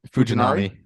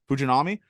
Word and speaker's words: Fujinami: that with the pitcher fujinari how do you pronounce it fujinari fujinami I was obviously like I said I was two rows up I was watching this guy he was just sitting 101.